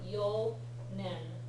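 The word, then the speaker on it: 四年: Most of the time, when you have an N sound starting after a 4, it's going to be yo nen or yo nin and so forth. Okay? Only for the 4, not for the 3.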